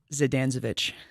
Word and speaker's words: Zdanczewicz: what say your last name one more time zidanezovic I can hear that sandwich yes wait that's